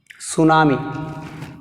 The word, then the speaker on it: tsunami: Tsunami. What is the word? Tsunami. Tsunami. Tsunami. In this word which is silent? T is silent.